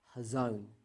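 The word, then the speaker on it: חָזוֹן: Um, yeah, most of the time we pronounce it with a ch, a ch sound, but I think in the originally it's actually a h. It's a silent c. And I think it's hazone is the actual original uh way to pronounce this word.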